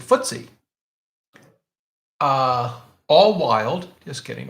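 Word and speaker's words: FTSE: time stock exchange but if you want to impress your friends at a parties you pronounce it footsie uh all wild just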